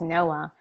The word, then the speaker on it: Noa: first I'll start with my first name which is Noah and that's my given name I was born in Israel it's spelled Noa and in Hawaiian it